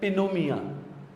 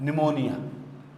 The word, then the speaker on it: pneumonia: You never pronounce it like pinomia or pinomonia. So, you say that pneumonia.